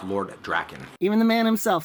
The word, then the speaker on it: Drakkon: look at friends and i've heard some people pronounce it draken but i mean if you want to know how to pronounce it it's lord drakken even the man himself says draken and the